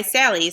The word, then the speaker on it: Sally: So for her first name, Sally's trick is that her name Sally rhymes with the word rally.